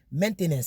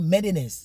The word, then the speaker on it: maintenance: Maintenance, c'est pas ça. Donc, mais eux, ils ne prononcent pas le T. Ici, c'est le problème. Le T là devient do. Donc, maintenance, c'est comme ça, ils font maintenance requise.